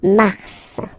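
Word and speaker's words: mars: it's an exception because normally final s is not pronounced in French okay we got some exceptions and this one is one of them so Mar pronounce the final s mar mar okay then ail ail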